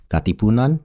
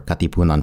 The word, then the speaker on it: Katipunan: And it's pronounced Kataastaasang Gagalagalanggang Katipunan Namaga Anaklangbayan, or Katipunan for short.